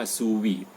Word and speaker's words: sous vide: Google ดู ก็ ได้ มัน สะกด ด้วย s o u s e v e ide นะ ครับ เขา เขา ให้ คำ อ่าน ว่า ซูวีด นะ ครับ สู้ วิทย์